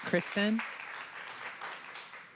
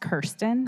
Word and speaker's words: Kirsten: Kristen? Welcome. And then Lexi and Vera. Hi, just for the record, my name is pronounced Kirsten. Kirsten, I'm sorry.